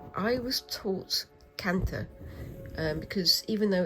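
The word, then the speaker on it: kantha: Um I don't know which Indian language it is uh cuz there are many but um the th is pronounced as as a as a t.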